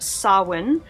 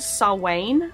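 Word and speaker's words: Samhain: a tiny little rundown it is pronounced SAR win' honestly there are of different variations like I've heard Sal Wayne I think but um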